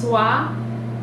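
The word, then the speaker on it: swai: some other whitefish and I believe is pronounced swap SWA I really good light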